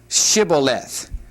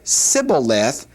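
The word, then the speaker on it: shibboleth: But he said, "Scaleth," for he could not pronounce it correctly. Now notice those two words. The first word uh is different only in that it has the sh sound, Shibuath.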